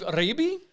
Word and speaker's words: Ribe: With me is Steve Ribe. That's how you say it. You have to say it with roll your R's.